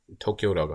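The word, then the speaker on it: Tokio: 일단 Rust에서 사람들이 거의 다 쓰는 게 도쿄라고 하는데요. 도쿄, 일본의 도쿄 옛날 스펠링이 건데요.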